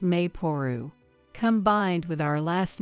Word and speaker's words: Maple: But you know, I saw this name online, written as Maple but pronounced Mayporu.